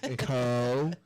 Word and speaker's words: Coshocton: Coshocton. Still trying to pronounce. Coshocton.